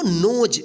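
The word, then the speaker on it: nose: नोज देखिए last में इ है और इस से पहले वाला यानी पूर्ववर्ती स्वर क्या है?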